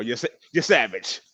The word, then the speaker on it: Yesavage: You know how to say this guy's name, huh? Oh, you're savage.